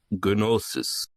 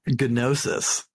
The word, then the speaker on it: Gnosis: you might notice that they're all pronouncing it gnosis so uh gnosis silent G be damned uh uh Tio's group